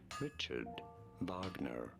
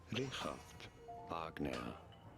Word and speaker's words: Richard Wagner: In English, this is generally referred to as Richard Wagner. Richard Wagner. In German, however, this is normally pronounced as Richard Wagner.